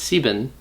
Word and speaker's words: sieben: The 7 is actually also a slight exception because 7 is sieben. It's sieben, but instead of saying 17 or 37 or 47, you just say you say sieb instead of the full sieben.